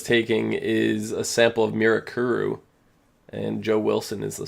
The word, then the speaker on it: Mirakuru: these white people say Mirakuru. My favorite thing. Yeah, that's really cool. I'm gonna continue to call it Mirakuru because that's how they pronounce it in the show.